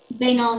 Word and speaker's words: banal: have the word again uh the word is bainol may i have all the information please yeah so it can be pronounced it's an adjective and it means wanting